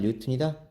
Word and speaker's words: 뉴턴: 1kg이면 9.8 뉴턴이다. 자, 여기서 봅시다. 수직힘, 중력 또는 무게다. 자, F는 mg 9.8m 이렇게 되네요. 힘의 단위 뉴턴이라고 읽어야 돼요.